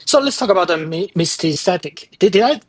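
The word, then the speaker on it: Mysticeti: So let's talk about the mistatic. Did I pronounce it right?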